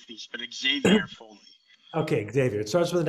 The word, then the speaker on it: Xavier: there's always different ways of saying things but xavier okay xavier it starts with an x you